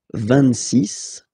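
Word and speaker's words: vingt-six: So remember it's ending with X, but then we pronounce it S, 26.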